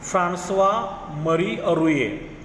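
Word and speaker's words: François-Marie Arouet: वोल्टेयर्स original name, वोल्टेयर्स का original name का था वॉज फ्रांसवा मरी अरुए। प्रोनाउंसिएशन ठीक से याद रखो, फ्रांसवा मरी अरुए।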